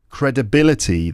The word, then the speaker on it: credibility: Credibility then is the noun. Credibility. Credibility. Credibility. The third syllable is the stressed one.